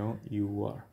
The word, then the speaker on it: hour: H is not pronounced and our h o u r our pronounce is O you are so the the correct